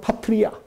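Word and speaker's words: πατριά: 오늘 여기서 각 족속이라고 하는 말을 헬라어로 보면은 이 아버지라고 하는 단어하고 발음이 똑같아요. 이 족속 그럼 파트리아, 아버지 그럼 파테르.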